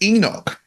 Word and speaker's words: Henoc: I think his name is Enoch. I know that some people say Enoch. Okay. Well, because on the show, people call him Enoch. It's spelled Henoc, but lots of people call him Enoch, and I think he refers to himself as Enoch, I think.